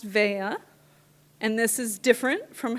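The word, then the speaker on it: Veglia: um spelled properly for the very first time in my entire life, which is V E G L I A. Um and it's pronounced Vea.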